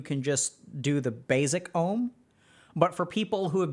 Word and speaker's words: om: we chant it so om is generally speaking composed of three syllables and we start with the mouth fully open ah go to middle open that's how we chant oh okay so what